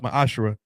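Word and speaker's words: מעשר: Malachi 38-10 means 10th in the Hebrew it's pronounced my ashra 10% of every penny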